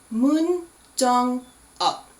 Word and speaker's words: Moon Jong-up: And his last part of his name, the up part, even though it's spelled with a U-P and we would say it like up, it's again that back of the throat sound, up.